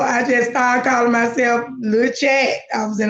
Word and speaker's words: La Chat: And then I just changed it to LA Chat. So it's still pronounced the same, but it's spelled different. Right. So it's still Lil Chat.